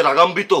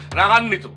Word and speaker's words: রাগান্বিত: বলিতেছি স্যার বাবার সাথে রাগাম্বিত হইয়া সে ঘর ছাড়িয়া পালিয়ে চলে গেছে এই আস্তে তুমি ভুলভাল বাংলায় কথা বলি না রাগাম বেতু রাগান্বিত কি? এটার উচ্চারণ হইতেছে রাগান্বিত।